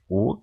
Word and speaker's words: og: If you speak and emphasize og, one and then the other, you tend to say og with the G. Sometimes in phrases you will just hear O, like the letter O pronounced, but yeah.